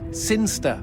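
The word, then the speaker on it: Sinchester: boring town of siner sin Chester sinster what it's pronounced sinster how do you know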